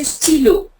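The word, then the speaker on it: stylo: like if I say steo so why becomes a i sound Ste it's St Y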